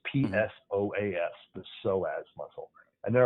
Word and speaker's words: psoas: spine there's psoas stretches we're saying so as but if our listeners are looking it up it begins with a silent P it's p s o a s the psoas muscle and